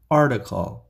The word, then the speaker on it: article: This T is pronounced as D in the middle, especially in American English. T در وسط به شکل D در انگلیسی آمریکایی تلفظ می شود. Article, article, article.